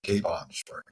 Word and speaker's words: Capon Springs: We pronounce it Capon Springs.